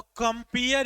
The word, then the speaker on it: compeer: दोनों देखो प्रोनाउंसिएशन दोनों का कंपेयर होगा। COMPEER लिखा हुआ है और COMPERE दोनों लिखा हुआ है। तो कंपेयर, ये जो डबल ई वाला है इसका मतलब क्या होता है?